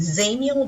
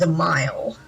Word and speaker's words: Dzemael: so today we're doing Samuel Darkhold actually it's pronounced as a mile so the mile Darkhold some people just call